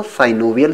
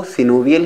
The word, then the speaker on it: synovial: कुछ लोग सिनोवियल joint को साइनोवियल जॉइंट भी पढ़ते हैं, वैसे जो करेक्ट प्रोनाउंसिएशन है दोस्तों वो सिनोवियल ही है, लेकिन अगर आप साइनोवियल पढ़ लेते हैं तो इसमें आपको कोई प्रॉब्लम नहीं होने वाली है, दोनों ही एक्सेप्टेबल हैं।